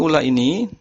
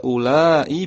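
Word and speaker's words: أولاء: Jadi mengenai ula ini sebelum kita bahas fungsinya untuk kata tunjuk pada bilangan berapa, dia di situ ada 2 cara baca, bisa ulai, bisa ula tanpa hamzah.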